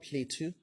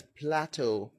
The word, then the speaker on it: Plateau: And then the other word, it's not Plateau, it's Plateau. Now, this word is English, so it's, I don't know why. I mean, I don't know why people call it Plateau.